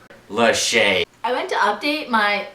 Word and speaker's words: Lachey: Lachey. Lachey.